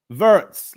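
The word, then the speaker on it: Wirtz: I found out it's pronounced verts. Like vertical.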